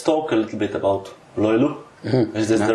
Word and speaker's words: löyly: true so let's talk a little bit about loyola is this the right pronunciation yes right because it's again an important